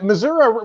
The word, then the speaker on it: Missouri: Yeah, well, actually, Missouri really. It's only folks up north that really pronounce that A.